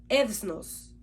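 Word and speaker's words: ἔθνος: Esta palabra es del Strong griego 1484 y su pronunciación es ethnos.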